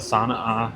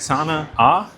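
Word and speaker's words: Sana'a: So, we're going to the Sana A Cafe. I'm Am I'm saying it right? Sana A. It's S Apostrophe A. Sana A Cafe, which fun fact, just opened like 2 weeks ago.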